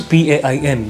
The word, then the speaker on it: pane: How does this differ from the previous word which was P-A-I-N? Because both the words are pronounced as pain.